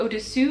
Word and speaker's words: au-dessus: super well But also, there are just some vowels that are really, really similar, and make a big difference, in fact if you pronounce the wrong sound For example, "au-dessus" (above) and "au-dessous" (below)